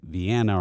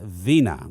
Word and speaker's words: Vina: bit weird you know they say like vienna or vinia you know they don't know how to say it but it's vina that's vina francois i have heard the actual way to say it straight from her own mouth so it is vena francois and uh janet frivola